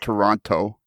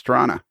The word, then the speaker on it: Toronto: Yeah, and it's not Toronto, it's Toronto.